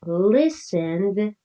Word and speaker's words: listened: But listened ends with a d sound, less strong than looked.